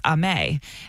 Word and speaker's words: Aimé: And so it's French and it's Aimé. But literally, I've never introduced myself as Aimé. Your name's Aimé? Yeah. My name is spelled French. It's not really necessarily Aimee because there's an accent on it.